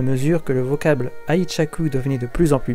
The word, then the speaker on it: 愛着: de 1868 à 1912 que le terme aurait commencé à être prononcé aichaku comme le voulait le son chinois de la on Yomi alors qu'avant il avait